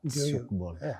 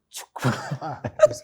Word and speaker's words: Tchoukball: Tchoukball. Maana yake mimi nilikuwa nasema Tchoukball. Sasa no, the T is silent. The T is Tchoukball. The T is silent. Tchoukball. Tchoukball.